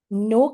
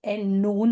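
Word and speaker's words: non: इसकी साउंड है वी नो के लिए we have N ओ एन बट इट्स नॉट pronounced as एनोन और something it's नो the ending is silent okay the Kaur O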